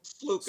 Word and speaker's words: Sluka: Matt say the last name again for me sluka sluka sluka yeah it's spelled skola you see that spelled in skola